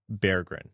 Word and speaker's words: Berggren: But he said to broadcast teams, Berggren, and then when they said that, he said, "Oh, you're actually saying it right." So that's that's the way he says it.